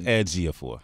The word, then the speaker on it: Ejiofor: Okay, it's Ejiofor.